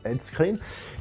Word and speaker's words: Ed Skrein: J'ai eu un petit peu de problème avec l'acteur principal, enfin l'acteur plus principal, Ed Skrein, on doit le prononcer, Ed Skrein, qui, au début, j'avais vraiment de la peine.